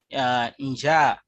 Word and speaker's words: njaa: then quickly drew from their first language and pronounced it as a one word. For example, we have the word in Kiswahili, njaa, meaning hunger.